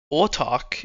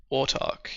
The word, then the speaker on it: Autark: Autark is pronounced like autist and dark. Autark, yep.